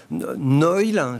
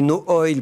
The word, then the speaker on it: Noil: Alors, c'est Noil. Ça, c'est Noil. N-O-I-L. Moi, j'ai prononcé No Oil parce que ça me semble évident que ça se prononce comme ça.